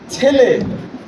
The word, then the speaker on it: ছেলে: কিন্তু প্রমিত উচ্চারণ হচ্ছে পানি, প্রমিত উচ্চারণ হচ্ছে পানি। বানান হচ্ছে পয়ে আকার দন্ত নয় রস্বীকার। যেমন ছেলে, আপনাদের এখানে বলে ছাইলে, ছাইলে ছাইলে, তাই না?